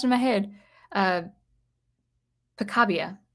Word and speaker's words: Picabia: in my head uh picabia i think his name is pronounced francis picabia i'm going to say that